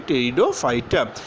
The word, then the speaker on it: Pteridophyta: So you can see the spelling, it is starting with P, but the pronunciation will be Pteridophyta.